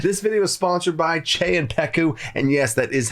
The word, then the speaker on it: Czepeku: This video is sponsored by Che and Peku, and yes, that is how you say their name.